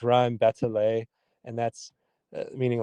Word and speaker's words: rime batelée: That uses a uh uh a technique called and again, here's a little French for you um poorly pronounced, but I believe it's rime batelée and that's meaning like a bell.